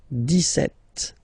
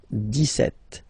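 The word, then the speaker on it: dix-sept: it's clear but then for the pronunciation deset okay so you don't insist on the S deset deset deset okay then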